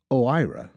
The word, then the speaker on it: OIRA: O I A pronounced OIRA is Washington speak for a little office with a big impact.